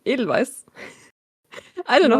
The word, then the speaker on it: Edelweiss: Well, if we pronounce it in English, we pronounce it wrong. Mm-hmm. Because it's German, so we are the ones who pronounce it the right way.